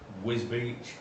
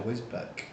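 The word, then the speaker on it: Wisbech: Been over to Bolton, been to Whiz Beach, which is pretty much in Is it Whiz Beach or Whizbeck? I'd say Whiz Beach. How do you spell it? It's BECH.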